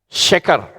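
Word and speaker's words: שקר: Ada shin, ada kaf, dan ada res. Ya. Sheker bacanya.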